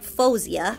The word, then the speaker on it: Faouzia: Today we're checking out Faouzia. I believe that's how you pronounce it because I did a little research before I shot this and that's how I saw her pronouncing it.